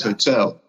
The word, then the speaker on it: hotel: Same as hotel. H is silent in hotel as well.